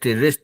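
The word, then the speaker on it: wrist: ऑन द रे रे डब्लू आर आई एस रेस्ट बोलते है डब्लू साइलेंट है वहा है रेस्ट सम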